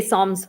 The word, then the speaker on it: Psalms: I say Psalms sometimes. Yeah, there's Psalms and there's a P in front of it, and the P is silent.